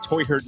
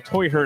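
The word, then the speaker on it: Teuchert: And yes, I got Toyhurt's pronunciation wrong in the video. It's technically Toyhurt. like that. I just don't see a lot of Americans doing the, part. Because Germans say the ch part with the back of their throat. So Toyhurt, I think, is going to be the accepted pronunciation.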